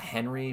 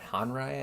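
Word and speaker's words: Henri: It's not Henry, but Honrai, I think is how you pronounce his last name.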